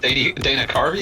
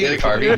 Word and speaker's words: Carvey: Yeah, you kind of spliced it with Dana Carvey. Dana Carvey, yeah.